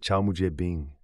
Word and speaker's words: 草木皆兵: Ce sentiment, mes amis, encapsule l'essence de l'idiome chinois, prononcé Chao Mujie Bing, qui se traduit directement par chaque buisson et arbre twoth ressemble à un ennemi.